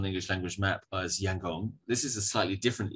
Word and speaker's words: Yangon: the chinese perspective and yangon reflects the pronunciation of the name of that city in burmese rather than americans so american means it's rangoon and in burmese it's yangon which got um spelled